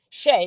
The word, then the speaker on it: Shea: I simply stated that Queen Sugar Shay was not who he said she was, because she was Shay, which is spelled Shea, short for her middle name Lachey, because she's half black, half Hispanic, and she goes by that name.